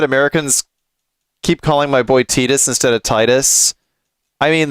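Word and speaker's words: Tidus: Sound really pretentious and all, but yeah, I I went from calling him Titus to Tetus as well.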